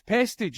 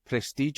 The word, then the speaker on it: Pestridge: So it's Pestridge is how you say your second name. Pestridge, yeah, it is. Yeah, because I'd called you Prestige. I thought your name was.